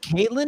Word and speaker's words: Katlyn: that's nice hey um by the way it's pronounced caitlyn even though it's spelled catelyn that's correct i